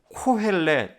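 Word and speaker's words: קהלת: 섯다 라는 그런 의미입니다 전도자는 히브리어로 코헬렛 내 코 ret 뭐 이렇게 발음을 하는데 이 말은 두가지의 의미를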